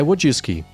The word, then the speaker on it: Wojcicki: E aí a pronúncia é Wojcicki.